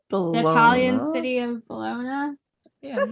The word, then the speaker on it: Bologna: unambiguous evidence of tarot as divination appeared in Bologna sometime. Is that how you say it? Bologna? No, it's not Bologna. But like I think Bologna. The Italian city of Bologna.